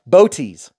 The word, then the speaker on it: Bootes: this is the travisa boties it's spelled like booties just know why check